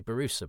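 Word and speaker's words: Borusa: I would always say Barusa, but because Nev is saying Baruza, I've sort of chameleonized my pronunciation.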